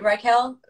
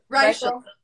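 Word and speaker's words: Reichl: Raquel? Reichel.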